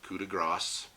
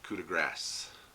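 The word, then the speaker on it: Coup de Grâce: way down I can use my CDG action Cuda gross as I've been corrected thank you all for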